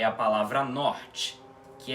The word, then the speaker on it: norte: Bom, o N não tem mistério nenhum aqui nessa palavra, não é mesmo? O que parece ser diferente é esse O aspirado, que vamos estudar em